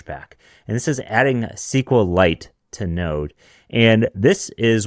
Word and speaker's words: SQLite: a bit odd but because squeite is so popular I'm just joking we Honestly though we should just mispronounce things like that for the sake of a Tik Tok clip be because a SQL